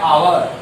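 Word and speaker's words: hour: ह हिंदी वर्णमाला का स्वर नहीं है, लेकिन इसका उच्चारण करते हैं तो क्या होता है, आवर, आवर।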